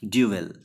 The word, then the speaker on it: duel: ये जो वर्ड है इसका प्रोनाउंसिएशन क्या है, ड्यूएल। जैसा लिखा हुआ है वैसे ही ELL प्रोनाउंस करेंगे आप, ड्यूएल।